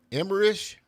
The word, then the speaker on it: Emmerich: Emmerich? Emmerich.